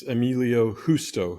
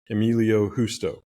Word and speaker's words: Emilio Justo: It's Emilio Justo. The J is like an H in Spanish, so Emilio Justo.